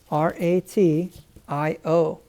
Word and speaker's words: ratio: a t i o this combination here the t i o makes this t sound like an s h in english and a weird weird little pronunciation that we have in english but with that tio it makes that t becomes an sh sound ratio ratio okay now you